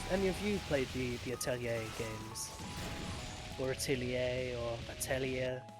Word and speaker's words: Atelier: It's just Atelier is how my French friend says it, and since it's a French word, I'll let him have it.